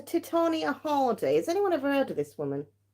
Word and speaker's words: Titania: we have these titiana it's not titiana well these are officially called uh I still can't say it how do you say that right these are Titania holidays anyone ever heard